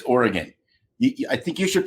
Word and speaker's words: Oregon: live here I'm sorry it's not Oregon it's Oregon I think you should